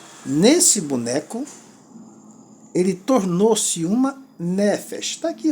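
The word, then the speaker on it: נפש: Que é o acento na primeira sílaba. Nefesh. Então são duas sílabas.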